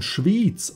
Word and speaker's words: Schwiz: etwa vom Kanton sprechen je nach Dialekt wird es schon durch die Betonung klar wer von schwitz oder Schwitzer redet der meint das gesamte Land wer von Schwiz oder Schwizer redet der meint den Kanton um das noch ein